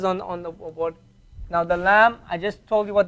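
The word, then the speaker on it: لا: Lam alif, okay? That's all lam alif. What sound does it give? What sound does it give? La. What does it sound like? Pronounce it. La. Stretch it. La.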